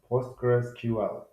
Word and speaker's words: PostgreSQL: Hello, our today topic is about PostgreSQL. What is PostgreSQL? PostgreSQL, which is commonly pronounced as Postgres, is an open source